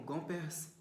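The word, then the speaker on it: Gomperz: leom revolte os grandes historiadores da filosofia como gompers não sei como é que se pronuncia isso g o m p e r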